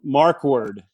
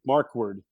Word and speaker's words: Markwardt: what i'm doing yeah you can uh leave the t off when you pronounce it i guess just say